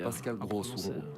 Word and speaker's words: Pascal Gross: Pascal Gross, voilà.